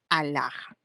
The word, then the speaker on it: alhaja: han hecho así no alhaja a ver al No no es cierto a solita se pronuncia y luego la ahí está alhaja exorbitante A ver exorbitante